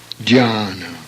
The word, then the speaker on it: Dhyana: DHY is pronounced the same as above, as though Y were added after Dya. Dhyana.